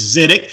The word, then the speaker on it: Zidek: Our announcer pronounced your name wrong, but it is Zidek.